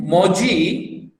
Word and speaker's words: muji: See, now I am pronouncing moji, actually muji. In Mangalore we normally say muji, but don't worry. Even if you see moji, it's okay.